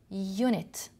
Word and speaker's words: unit: try to say it unit you are pronouncing it as y so right it is a vowel letter but it is not a vowel sound so you must use a a unit so you have they